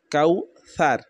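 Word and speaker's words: كوثر: ইন্না আ তাইনা কাল কাউ সার সার এখানে যদি আমরা বলি স্যার তাহলে ভুল এখানে ছা এরকম হবে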